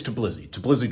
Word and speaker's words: Tbilisi: It's Tbilisi, Georgia.